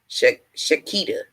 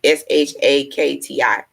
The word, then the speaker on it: Shakti: Shakita, Shakiti. I may be saying it wrong. It's Shakti.